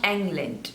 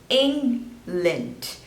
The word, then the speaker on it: England: Guinea next is England not England it's England so two syllables and you have to stress on the first one England England next